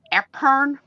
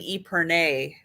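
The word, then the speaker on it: epergne: I'm not going to say it right. Epern. Epern. Yeah. Epern. Although we kind of decided that we were going to start calling it an Epernay because we didn't like Epern. And we think it should be a little more French sounding.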